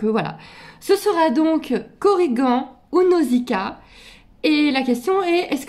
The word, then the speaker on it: Nausicaa: petite femelle ça sera Nausicaa voilà me demandez pas pourquoi Nausica ça a toujours été de musical dans ma tête si c'était une femelle donc nosikaha ça s'écrit avec de a c'est mythologique il y